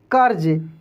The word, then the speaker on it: कर्ज: पे ध्यान देते हैं रेप की मंत्र जी अक्षर के ऊपर लगा राहत है ना उसे अक्षर के पहले आर का उच्चारण होता है जैसे यहां पर उच्चारण